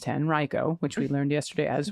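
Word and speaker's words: Henrico: Just wanted to say that Henri Reicho County is pronounced 10 Reicho which we learned yesterday as well.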